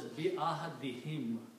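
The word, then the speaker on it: بعهدهم: But in the rule of tajweed, you pronounce this as a kasra also, because there is a kasra before that. So it is pronounced as bi-ahadihim.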